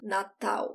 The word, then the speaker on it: natal: The other thing is the pronunciation of Natal. I talked about the L before. I don't roll my tongue. Natal.